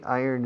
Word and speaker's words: iron: How do you say iron in Spanish? Hierro? Ah, iron. No, iron no. Iron. ¿Cómo? Iron. Yo, como si dijeras, yo gano. I earn. Acentuando I. Iron.